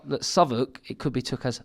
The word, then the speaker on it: Southwark: And I'm training with Frank Greaves now in, keep saying it wrong, Southwark, is that right? Self-walk, innit, on paper. Oh, Southwark.